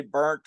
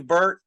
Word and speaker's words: Burtt: I didn't want to say burnt or bunt but it's Burtt.